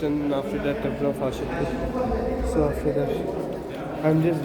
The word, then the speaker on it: Hatshepsut: But now we are going to the Temple of Hatshepsut. I finally pronounced it right.